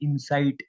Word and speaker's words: incite: इसका प्रोनाउंसिएशन जो है वो एक और वर्ड से सिमिलर है, इंसाइट, INSIGHT। That is a totally different word from this word.